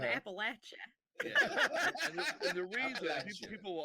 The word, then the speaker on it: Appalachia: wrong paul steve will throw an apple at it that's how you gotta remember it that's how you remember if you say appalachia i'll throw an appalachia and the reason people